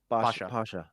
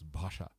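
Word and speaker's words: ভাষা: Pasha, Pasha. No, with the put a H on the B, so it's Bhasha.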